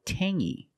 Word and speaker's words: tangy: Or this word tangy. We have the same sound. It's the nasal sound only. Tangy. Tangy. It's not tangy. It's tangy.